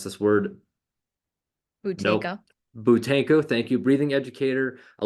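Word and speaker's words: Buteyko: And I forgot how to pronounce this word. Butenko. Nope. Butenko, thank you.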